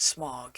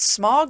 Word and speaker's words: Smaug: perspective with that hope yes i know it's written s-m-a-u-g but how does one pronounce that smog or smog i like the first one anyway the finale is